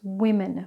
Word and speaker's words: women: is women now it spells women but it's pronounced WImen en so it's women for the plural of woman now let's take the suffix ATE which is actually pronounced different for adjectives and verbs.